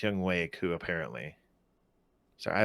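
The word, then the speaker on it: Younghoe Koo: hey well it looks like it's it's like young who two but it's young way coo apparently so i like i like to get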